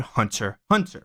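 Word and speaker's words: Hunter x Hunter: For example, a show called Hunter Hunter, the X is silent.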